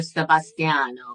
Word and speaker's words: Sebastian: So we like to stick to the German pronunciation, right? Like, do you feel more Germanic or Italian? So the names would be more German. So Maximilian and Sebastian.